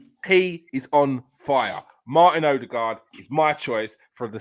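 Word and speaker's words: Ødegaard: Yeah, to say it properly, Odegaard.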